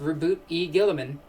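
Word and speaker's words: Roboute Guilliman: how rou Gillman is actually pronounced and it's pronounced reboot e Gillman gay GW so I have upcoming conventions I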